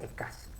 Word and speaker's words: SCSI: Les aclaro, el SCSI es eso que está escrito ahí, que dice SCSI, se pronuncia SCSI.